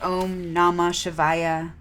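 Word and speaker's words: Om Namah Shivaya: for counterbalancing saturn the om namashivaya omnama shivaya om namashivaya mantra and so the pronunciation o is long a as in father i is is short shiva symbolizes the divine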